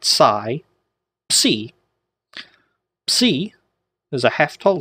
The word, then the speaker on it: psi: Psi looks like a little trident, and it's pronounced psi, a PS sound, like the You've heard the bugle player play taps. Ps, ps. That's the type of sound it would make.